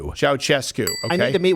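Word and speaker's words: Ceaușescu: Ceausescu.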